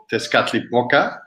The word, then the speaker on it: Tezcatlipoca: Like Violet's one is called Tezcatlipoca.